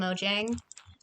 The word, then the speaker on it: Mojang: dare disobey i also i do pronounce it moyang now instead of mojang because i just got too used to like all these like like when like european people who do like vlogs like oh i went to sweden and saw the like headquarters they were pronouncing it at moyang and i'm like well i guess they're right or whatever is it sweden i